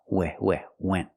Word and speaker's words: went: And the last one is went, use the short S sound, went.